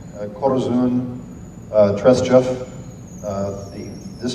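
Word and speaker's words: Korzun: Um, can you pronounce those names? Yeah. Yeah, this is Corzun. K O R Zu N Corzun.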